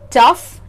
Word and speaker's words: tough: The final pronunciation of this combination is uff, not off, uff. Slightly different. Words here are tough, rough and enough.